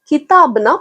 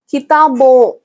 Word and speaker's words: किताबों: கிதாபோ அப்படின்னு ஏன் வந்திருக்கு அப்படின்னா, இதை நிறைய பேர் தப்பா ப்ரொனவுன்ஸ் பண்றீங்க. கிதாபோன் அப்படின்னு சொல்லி அந்த எண்ணை சேர்த்து சொல்றீங்க. அந்த எண்ணை அப்படி அழுத்தி சொல்லக்கூடாது. அந்த எண்ணை போ முடிக்கும் போது லைட்டா நாசல் சவுண்ட் கொடுத்தா போதும். கிதாபோ அப்படின்னு சொல்லிட்டா போதும்.